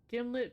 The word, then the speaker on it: gimlet: This is a jar of gimlet peanut butter, a brand primarily noted for arguments about how to pronounce it. According to the manufacturers, it rhymes with himlet.